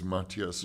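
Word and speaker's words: Matthias: definitely um and Maas am I corre correctly pronouncing his he doesn't mind how you say it but it's Mattias Mattias yeah yeah who's somebody that I think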